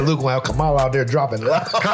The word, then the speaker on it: Kamala: I said Luke while Kamala out there dropping the Kamala?